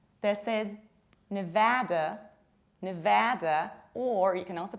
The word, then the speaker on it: Nevada: And this one is not Nevada, Nevada, no. These vowels have different quality and quantity. This is Nevada, Nevada, or you can also potentially say Nevada, Nevada with long R.